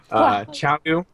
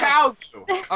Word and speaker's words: Qiao Gu: tonight, whose name I already forgot how to pronounce, so bear with me. Qiao Gu. Yay! You got it. Yeah, you got it. Yes. Qiao Gu.